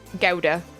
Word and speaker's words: Gouda: Gouda. It's what the Gouda puns taught me, right? Google said British is gow and US is goo.